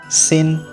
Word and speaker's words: Xin: Xin.